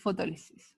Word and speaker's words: fotólisis: se llama fotólisis fotólisis fotólisis muy bien fotólisis Me faltó acentuar los chiquillos pero levo acento en la segunda fotólisis ya exactamente y